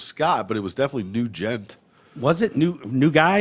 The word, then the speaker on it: Nugent: named scott nugent uh-huh ah new jet new gent okay here we go a new gent and it's spelled new gent like that not like ted nugent well do you not